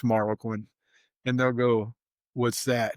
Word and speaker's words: Marroquin: I'll say, "Well, it's Marlo Quinn."